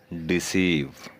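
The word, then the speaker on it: deceive: ऐसे अल्फाज में आवाज़ डबल ई के बराबर हो जाती है, मसलन डिसीव, अचीव।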